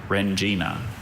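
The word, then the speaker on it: rendzina: Rengina. Can you repeat the word? Rengina. Rengina. Any alternate pronunciations?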